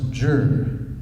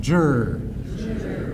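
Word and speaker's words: 治: This character that you see in the center of the slide there is pronounced Zhi. Okay, everybody, 1, 2, 3, Zhi. Now that's not very good. Come on, Zhi. Okay, that's a lot better.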